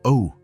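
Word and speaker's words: eau: Ew, Elena said. It looks strange, doesn't it? It's spelled E-A-U, but pronounced O.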